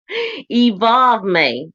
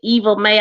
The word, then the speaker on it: Evolve May: Evolve May. Okay. Evolve May. That makes more sense. I've been calling you Evil May. I know I was saying it wrong.